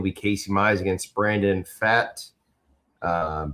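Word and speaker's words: Pfaadt: Game two Tuesday will be Casey Mize against Brandon Fat. Um the P is silent.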